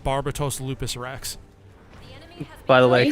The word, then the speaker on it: Barbatos: I was making y'all this is barbatos Barbados the country is over the Deep ah and we were talking about Barbados they were pronouncing it barbatos I mean I was pronouncing it barbatos because that's the machine it's what the machine is called I I understand I